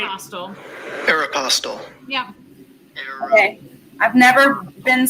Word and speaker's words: Aeropostale: How to pronounce Aeropostale? Let's see. Oh, you're right. Aeropostale.